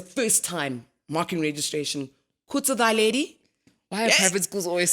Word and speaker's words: Theledi: Mary's, they couldn't pronounce Theledi. Really? Oh, Ghana, yeah. So, so they'd say, thy lady. What? Yeah, that was the first time marking registration. Khutso Theledi.